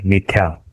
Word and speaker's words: मिथ्या: उसका उच्चारण कैसे होगा? मिथ्या। मिथ्या नहीं होगा, ये जो ऊपर वाला है, ये जो नीचे मिथ्या। ये जो मिथ्या, ऐसा उच्चारण नहीं होगा, उसका उच्चारण ये ऐसे होगा, मिथ्या। ये छोटा जो त है ना, उसका उच्चारण भी करना पड़ेगा, क्योंकि ये एक उच्चारण का शास्त्र है।